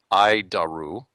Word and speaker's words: ADIRU: as the air data initial reference unit we pronounce it idaru it's horrible name but I'll keep trying I